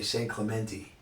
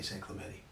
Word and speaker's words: San Clemente: you know it's funny the people who live here say Saint Clemente thank you about know it's supposed to be the Spanish sounding thing that the locals say actually say San Clemente all right hey hey